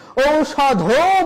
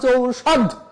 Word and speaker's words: ঔষধ: বা কোথায় ব্রেক নিচ্ছি ঔষধ বলছি না আমরা ঔষধ এই যে যেখানে থেমে